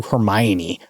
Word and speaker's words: Hermione: their pronunciation is like no one knew Hermione was how you said it for the first 10 years we read those books nobody was like Hermione no come on uh